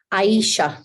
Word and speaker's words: Aisha: Is it, Aisha. even though it's AJS? Aisha.